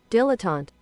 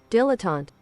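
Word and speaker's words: dilettante: Pronounce it. Dilotant. That is not how I would have said it. Dilotant.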